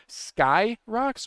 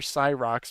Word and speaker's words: Scyrox: And then the other poll we had was how is Scyrox pronounced? Skyrox or Cyrox? And Common sense uh prevailed. yeah, okay, 3 not a lot of participation. 2 votes for Cyrox, most people saying Skyrox, but we have breaking news, Daz.